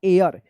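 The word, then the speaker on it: heir: लेकिन यहां पे आप एच ई आई आर इसको हेयर पढ़कर गलत मत कीजिएगा। ठीक है? इसका सही उच्चारण होगा एयर। यानी यहां पे एच साइलेंट रहेगा।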